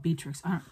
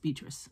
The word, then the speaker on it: Beatrix: sides are they called beatrix her name is beatrice i don't know why i'm calling it beatrix because it's spelled with an x but it is pronounced beatrice look at that her